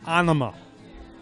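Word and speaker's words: Ænima: Tool, anima. Is that how you Enema. pronounce it? I pronounce it anima. Because enema is pronounced differently.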